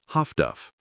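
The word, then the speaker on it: Huff-Duff: The solution was highfrequency direction finding, HFDF, pronounced Haftduff.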